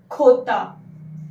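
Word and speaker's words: jota: Then J. Completely different. J is khota. Khota.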